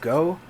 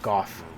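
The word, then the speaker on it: Gough: go was great it the pronunciation is a little weird cuz a lot of people call him go myself included but a lot of people call him golf will come back to go golf which ever I think the actual pronunciation is go but the bad part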